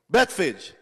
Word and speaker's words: Bethphage: Pastor, how do you pronounce that? That's gooder. Bethphage.